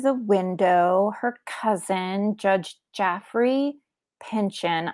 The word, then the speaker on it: Jaffrey: She recognizes a man outside of the window, her cousin, Judge Jaffrey Pinchon. I'm pronouncing it Jaffrey because it's J-A-F-F-R-E.